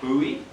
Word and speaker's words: Bowie: you want to be if you want to pronounce it properly overseas it's Bowie or buoy yeah South Africa we say Boe and they kind of